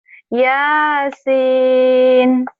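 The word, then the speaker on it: ياسين: Yasin, jangan kepanjangan kan satu alif. Ini 3 alif ya. Yasin.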